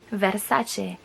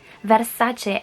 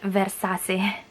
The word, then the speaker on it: Versace: we pronounce it Gucci same thing that goes to C followed by the vowel e for example Versace now you know the reason why we pronounce it that is such a and not versus a wait before I forget